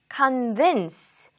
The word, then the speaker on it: convince: convince, convince, convince. 강세가 두 번째 음절에 가 있어요.